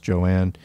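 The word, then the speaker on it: Joan Little: so joanne little uh her name is written j-o-a-n so looks like joan but is actually pronounced joanne born in 1953 an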